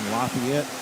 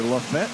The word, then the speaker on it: Lafayette: Lafayette, Tennessee or Lafette, Tennessee is how they pronounce it there.